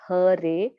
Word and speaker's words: Hare: The word Hare, pronounced Hare, Krishna, pronounced Krishna, and Rama rhymes with Rama as are Sanskrit words.